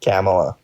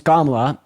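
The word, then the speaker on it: Kamala: of camela first of all her name's kamla you you you could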